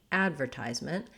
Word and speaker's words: advertisement: the u.s we have we say it as advertisement which basically has second to last syllable stress so our ties syllable is stressed and it has the z sound and the eye diphthong so two sounds there we also have secondary stress on the first vowel sounds like ad the black cat vowel and in fact we